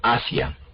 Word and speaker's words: Asia: Como cuando yo digo, por ejemplo, Asia.